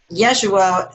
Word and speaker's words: Yeshua: And Yeshua was actually the real name of Jesus, not Jesus. Yeah, Yeshua. Who? That's what I read. Yeshua. It wasn't Jesus, actually, as far as the pronunciation.